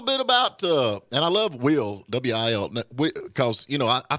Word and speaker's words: Wil: names nowadays, you know, Will. Yeah, W-I-L. Well, you know, I couldn't afford the second L, so I just kept it with one. Hey, I'm with you on that, and it's pronounced the same, you know?